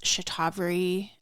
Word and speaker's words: shatavari: Another Ayurvedic herb, shatavari. I have heard this pronounced as shatavari ever since I started really paying attention to the Ayurvedic world.